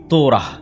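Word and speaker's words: Torah: মুসা আলাইহিস সালাতু ওয়াস সালামের কওমকে যখন তাওরাত দেওয়া হলো তোরা বলে ইহুদিরা উচ্চারণ করে যে তোরা যখন তাওরাত দেওয়া হলো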